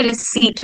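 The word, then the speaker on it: receipt: now they are getting की पी क्यों silent होता है रि सट में यस बट हेयर आर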